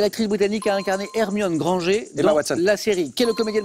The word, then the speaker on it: Granger: Emma Watson hermion Granger je dis je prononce bien c'est Granger je suis où on dit Granger la version anglaise et Granger en françaiser plutôt Harry Harry Poter